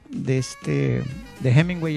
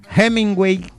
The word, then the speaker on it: Hemingway: En buen lenguaje coloquial cubano dijo: adiós Hemingway, o sea, con J y con G y diéresis en la U, que en acento cubano,